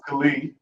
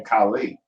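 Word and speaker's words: Khalee: deal with growing up so my name is khali this colleague spell k-h-a-l-e-e i get kaylee kylie khalil cowley like so many different variations most commonly people pronounce my name mispronounce my name kylie and it like aggravates so they have a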